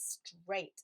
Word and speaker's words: straight: I can't think of any other words that use AIGHT to spell that eight sound. We've already learnt to spell the number eight, EIGHT. It doesn't spell it the same way in this part of straight.